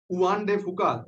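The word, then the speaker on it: Juan de Fuca: जो ये प्लेट बार बार जो है जिसका जिक्र आता रहता है, बहुत इसका नाम आता है, उआन डे फुका, जे साइलेंट टाइप का होता है।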